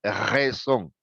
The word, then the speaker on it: raison: En cambio, la R en francés es atrás, por la garganta, gutural. Ellos no dicen R, ellos dicen R. No dicen razón, ellos dicen raison.